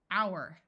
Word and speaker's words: hour: can add suffixes honestly this OU is going to say ow hour hourly herb note that